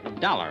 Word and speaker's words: Dollar: Dollar, huh? Yeah, rhymes with collar.